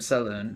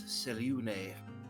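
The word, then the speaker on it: Selûne: like, "No, you worship Saloon." And I was like, "Okay, Ew. Gross. interesting. Not to be that guy, but I believe it's Selune.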